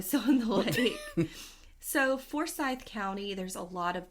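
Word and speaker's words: Forsyth: lake then probably still in the lake so forye County there's a lot of dark and terrible stuff that happened in for County I wanted to throw in here uh I've heard it pronounced forai but people who live there it's it's forye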